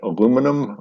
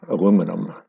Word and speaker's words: aluminum: American Chemical Society adopted aluminum in 1990 the international Union of pure and applied chemistry adopted aluminium uh today it's mixed uh English speakers in North America use aluminum and everybody else in